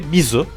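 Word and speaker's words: みず: çincesi ui benziyorlar japoncası Japonca kunyomi Japonların hani dilora kendi dillerinin telaffuz şekilleri Mizu Mizu Daha doğrusu Japonca onami ise Sui Çince okunuşa Sui bakın ne kadar benziyor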